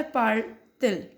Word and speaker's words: parle-t-il: subject and the verb, when the verb and subject both start and end with vowel, we just add hyphen, t hyphen for better pronunciation. Alright, so that's why parle-t-il means will she speak or will he speak.